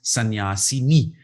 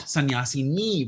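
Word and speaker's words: sannyāsini: the seventh case becomes sannyasini. Not sannyasini, which is the feminine, but sannyasini with a short e is the seventh case, the saptami vibhakti of sannyasin.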